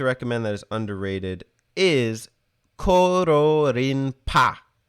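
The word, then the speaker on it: Kororinpa: that is underrated is koro rinpa koro rinpai if you don't know how to pronounce japanese spelt with a k as in carrot not c carrot that carrot like is in gold but anyways uh coral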